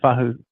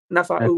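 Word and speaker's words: Naufahu: Then you got the reserves of Nafa'u White. I think I pronounced that right. Correct me if I'm wrong there. No, Fahu. Nafa'u White.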